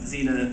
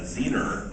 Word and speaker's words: Xena: players in New Zealand who said pronounce zena zener and then they would have people like myself here in Los Angeles go in and replace all their dialogue um without the New Zealand accent.